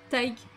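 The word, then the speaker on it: Tadhg: C'est comme ça que c'est prononcé en fait. Taig. Donc ça après c'est les prénoms irlandais, c'est quelque chose. Hein. Faut écouter les gens le prononcer avant d'essayer de le lire, parce que clairement ça n'a rien à voir avec la façon dont c'est écrit.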